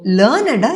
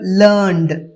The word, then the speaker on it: learned: என்ற வார்த்தை அட்ஜெக்டிவா வருது இந்த வார்த்தை அட்ஜெக்டிவா வரும்போது இதுக்கு உச்சரிப்பு லேர்னட் இதுவே லேர்னோட past டென்ஸா எல் இ ஆர் என் இடி ன்னு வரும்போது இதோட உச்சரிப்பு learned example i learned a